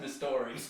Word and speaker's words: Mystery: It's spelled like mystery, but it's pronounced Mistory. Rory. Oh, the story. Rory Mistory.